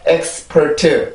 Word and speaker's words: expert: 강세는 첫 번째 음절에 있죠.